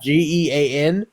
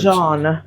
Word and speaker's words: Jean: Gean, which is really weird. Apparently, it's some French shit. Oh no, I don't trust the French. Jean. It's pronounced Jean.